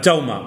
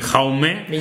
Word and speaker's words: Jaume: pronuncia yauma no se no se pronuncia jauma ni jaume ni yauma ni jaume es yauma entiendo que quizás no